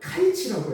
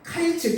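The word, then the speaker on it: קַיִץ: 자, 여름 과일은요 히브리어로 카이치라고 해요. 히브리어로 카이치, 좀 어렵죠? 또 끝은, 이 끝이라는 게 있죠? 처음 있으면 끝이 있잖아요. 끝은 히브리어로 캐치라고 합니다. 자, 카이츠, 캐츠. 좀 비슷한 말이죠.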